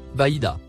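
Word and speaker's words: بيضاء: Il se prononce Baïda.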